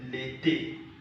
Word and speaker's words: l'été: For example, if I should have this, we say l'été. It's A here, A here.